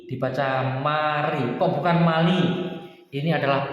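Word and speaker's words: 말이: Contoh, mari artinya berbicara. Mal-i tulisannya teman-teman ya, mal-i, tapi dibaca mari, tulisannya tetap mal-i, dibaca mari. Kenapa? Karena ini L atau R ini ketemu I, dibaca mari.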